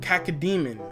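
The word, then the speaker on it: Cacodemon: It's Cacademon. Cacademon, alright? That's how you say it. You heard me. It's exactly Cacademon.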